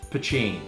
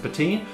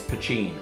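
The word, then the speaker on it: poitín: spelt either p-o-t-e-e-n or p-o-i-t-i-n either way it's pronounced pachin a lot of people think it's pronounced patine but no i have friends who are actually irish and told me in guelga it is pachin that's how you say it so that's a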